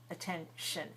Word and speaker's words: attention: Attention. And attention, this word, don't count the T-I-O-N because it never sounds like a T. It sounds like sh, attention.